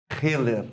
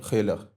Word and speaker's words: Heller: Pronúncia correta, porque é um sobrenome alemão. Sou descendente de alemão. Pronúncia correta lá no sul é Hiller. Hayer. Ah, mas poxa vida, pode me chamar de Heller. Heller.